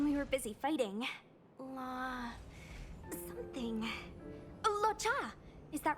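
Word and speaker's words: Luocha: Locha! Is that right? I remember it. Locha.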